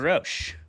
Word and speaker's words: Rosch: Our debaters tonight are going to be Jeremy Hudson and our guest, Peter Ro. Peter, thank you so much for coming on the show, man. I am pronouncing your name correctly.